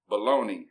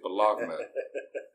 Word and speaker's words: bologna: There's certain words like baloney that you have to use the exact pronunciation. That is bologna, not baloney.